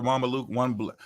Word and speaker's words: Mamluk: In 15th century Egypt, under Mamluk, that's how you say it, Mamluk rule, one black eunuch was appointed governor of Aden, and another was sent on a special mission to his Ethiopian homeland.